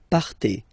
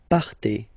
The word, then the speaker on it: partez: Okay, then for vous, classic ending for vous as well, z, but then you pronounce it et, vous partez, vous partez.